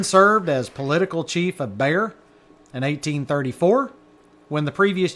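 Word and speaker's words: Béxar: Bayer is looks like Beexar but it's pronounced Bayer.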